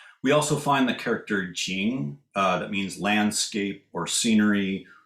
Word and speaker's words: 見: in a moment but jin can also be pronounced shin and mean to appear